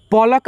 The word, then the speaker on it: पलक: देखिए पलक आप लोग जब उच्चारण करेंगे तो आपको मालूम चलेगा कि क के साथ में अ का ध्वनि नहीं आएगा।